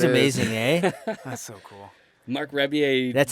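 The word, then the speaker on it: Marc Rebillet: Mark Rebier. That's how you say his name. Stoner. Yeah. I always said Mark Ribbolette.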